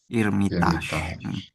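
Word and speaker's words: Эрмитаж: Theariat dan Irmit dari eh dia tekanannya di A terakhir itu Irmitaj.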